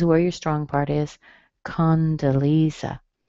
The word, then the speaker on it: Condoleezza: Condoleezza. Okay. Condo. I think it's Leeza.